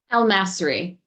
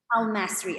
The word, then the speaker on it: Al-Masri: you about amanda amanda how do you say your surname properly almassary i'll mastery okay i thought so so let me tell